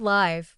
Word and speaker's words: live: The word live, for example, can be pronounced two ways. When you say, "I live in the north of England." you pronounce it with a short sound. But when you say, "My favorite rock group is singing live on TV tonight." you pronounce it with a long sound.